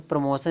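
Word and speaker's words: promotion: यहां देखो देखो प्रमोशन में देखो टी है।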